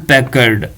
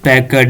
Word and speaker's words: Packard: ए में है high performance, B में है हैवलेट पैकर, सी में है हारोल्ड पैकर्ड और डी में है हैवलेट पैकर्ड।